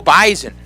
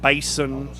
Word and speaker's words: Bison: Go Bison. Yes. Not Bison. Bison. B-Y-E-Z-E-N, I think, is the pronunciation.